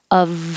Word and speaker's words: Of: I changed the F to a V to remind you that it looks like an F, but it sounds like a V, and we will connect it to the O after it. Of Oz.